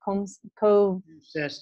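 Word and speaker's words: CoMSES: COMSIS, yeah.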